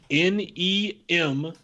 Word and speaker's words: Nemeth: Number 4, Nicholas Nemeth. I believe I'm pronouncing that correctly. It's Nemeth.